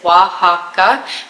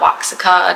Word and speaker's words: Oaxaca: So Oaxaca is Oaxaca, not Oaxaca, not Oaxaca, none of that.